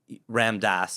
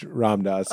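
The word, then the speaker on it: Ram Dass: Ramdas. Ramdas. Yeah. You got both wrong. You said it like rammed ass, which is a funny way to roast Ramdas.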